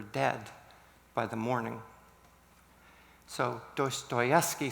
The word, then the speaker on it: Dostoevsky: I won't know if I'll pronounce his name well. It's Dostoevsky, right?